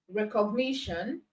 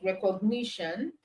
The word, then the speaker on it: recognition: Recognition, ni is stressed.